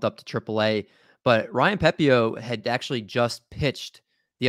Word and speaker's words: Pepiot: Pepio. I've been doing it without. I think you're right. It's Pepio. And then Brian Bello with Boston was bumped up to AAA. But Ryan Pepio had actually just pitched